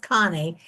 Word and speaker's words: Conny: way and I thought, well, I'm hoping it's pronounced Connie, but everyone else is c n i e, I think.